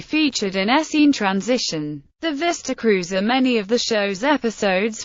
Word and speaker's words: Vista Cruiser: inside the Vista Cruiser the show's pronunciation of vista cruiser with emphasis on cruiser conflicted with the pronunciation of author George Plimpton in the Oldsmobile television advertisement for the nineteen sixty-nine Vista Cruiser where he pronounced the two words with the emphasis on vista that particular station wagon